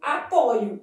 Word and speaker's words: apoio: No verbo apoiar, a forma de primeira pessoa do presente do indicativo apresenta a letra O aberta. Eu apoio.